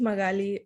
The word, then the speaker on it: Magaly: Magali? Hopefully I'm pronouncing that right. Magali? Hi, my name is Magali.